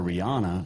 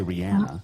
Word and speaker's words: Rihanna: listen to beyonce or rihanna it's actually rihanna i found that out um but i'm i'm